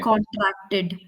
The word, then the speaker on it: contracted: So it's a basic instinct for Indians especially when we are saying ed ending words you tend to stress the d very much. So instead of that take the D very lightly so you can pronounce that word. Okay. So for example contracted. So that Ted is there. That long pause for that Ted is there. So instead of set just take it slowly.